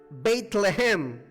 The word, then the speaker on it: Bethlehem: La palabra Belén en hebreo se pronuncia Bethlehem.